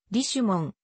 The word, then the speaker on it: Richemont: もんリッチモンドのフランス語読みリシュモンあるいは義姉も音が発音に近いが日本ではリッシュモンと慣用的に呼ぶと呼ばれた